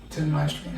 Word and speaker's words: Janmashtami: Janmashtami. Happy Janmashtami. How do you say it? Happy. Jan. Ma. Shtimi.